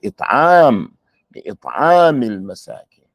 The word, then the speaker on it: إطعام المساكين: You're not going to put the emphasis on the last letter. Ever. Don't put it on the last letter. It'am al-masakin.